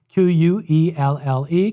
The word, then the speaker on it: Quelle: The word for source in German is Quelle, spelled with a Q. Q-U-E-L-L-E, Quelle.